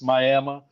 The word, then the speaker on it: Miami: It's spelled like Miami. Yeah. But the accent or whatever it's Miami.